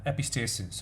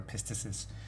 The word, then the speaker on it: epistasis: going to talk through epistasis our pista sis depending how you want to pronounce it an air Q